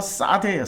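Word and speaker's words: שדה: 근데 이 들이란 단어가 싸대예요. 싸대. 자, 들에서도 복을 받는다. 싸대기 때린다는 싸대가 아니고 발음이 싸대라는 거예요.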